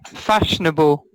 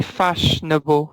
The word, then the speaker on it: fashionable: Trendy, fashionable. Fashionable. How many syllables? 3 syllables. Yeah, 3. You could include 4, but it's common to just say fashionable.